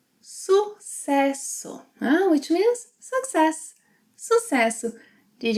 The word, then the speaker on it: Sucesso: Yes, in this word, the S, C, and double S have an S sound. Sucesso. Sucesso, which means success.